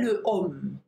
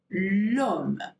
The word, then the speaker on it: l'homme: So we don't say le homme, okay? We say l'homme.